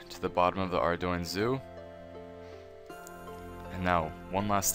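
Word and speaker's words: Ardougne: your way over to the bottom of the Ardoin Zoo. And now, one last time. It is not our Dugney. It is not our Dune. It is not our Dugney. It is Ardoin.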